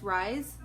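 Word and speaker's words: Rhys: I don't know how to pronounce it. R-H-Y-S, Rise.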